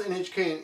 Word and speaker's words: NHK: company Association okay NHK notice when you pronounce NHK in Japanese you have to say it NHK NHK NHK okay at